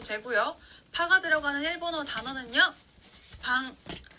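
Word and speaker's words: パン: 파가 들어가는 일본어 단어는요, 방, 발음이 비슷하죠? 빵이라는 뜻입니다. 같이 읽어볼게요. 방, 팡, 방.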